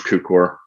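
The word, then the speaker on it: Cukor: how to say his last name yeah george cucor thank you and of course this is cary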